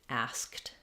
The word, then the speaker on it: asked: So what I recommend is first just do it with the S sound, ask, then add your K, ask, finally add your T, asked.